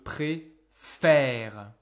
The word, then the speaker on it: préférer: Okay, we talked about this before when I tell you about the strange pronunciation of the verb préférer. We say préférer, but we say je préfère. Why is it like this?